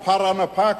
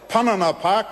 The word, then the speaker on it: Parana: make sure that that uh the the proper pronunciation is po TIY tii I mean pirana park or Parana Park I was a bit scared they might call it panana Park which uh which means banana Park I mean